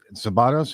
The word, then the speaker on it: Szabados: Is it Szabados?